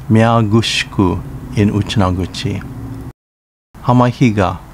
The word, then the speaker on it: Hamahiga: Hamahiga, pronounced Hamafija in Uchinaguchi.